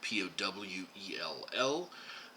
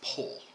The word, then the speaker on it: Powell: paul's last name there p-o-w-e-l-l he was welsh that is not pronounced powell despite the way you hear many americans saying it it is pull like the the word p-o-l-e like flagpole so i danced in